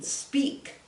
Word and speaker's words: speak: told here's another one speak that doesn't sound like any of them but uh even though it's spelled kind of like break this is break this is speak okay the past is